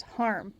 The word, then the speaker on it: Harm: Okay, I worked with a guy that spelled it like this, and it was Harm. You don't pronounce the I, so I'm having to remind myself. Tolliver, it seems.